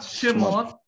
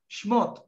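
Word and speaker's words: שמות: Not Shemot. Not Shemot. But the right pronunciation is Shmot.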